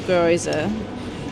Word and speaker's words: gyoza: The gyoza. Gyo- gyoza?